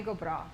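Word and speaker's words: go brách: word similar pronunciation though like well bro it has that guttural sound at the end but just the beginning sounds a little bit similar so uh so tommy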